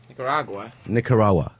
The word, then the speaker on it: Nicaragua: like an American nigga I got Nicaragua No What there's a G Pronounce the letters, Mars.